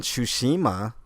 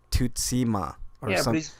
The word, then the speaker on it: Tsushima: I know of Japanese it sounds better than Tsushima which is what everybody's been saying and is the incorrect version it shows not sure